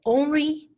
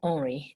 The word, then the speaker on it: Henri: And his name is actually, it's called Henri Matisse. It is Henry in English, but since he's French, we pronounce it a little bit different.